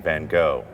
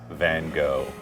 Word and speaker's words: van Gogh: I've been saying Van Gogh. How does a true Dutchy pronounce Van Gogh?